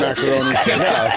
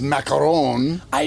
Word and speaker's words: Macaroni: Can't trust anything Sam Macaroni. By the way, his his proper pronunciation is macaron. I know. And he goes by macaroni.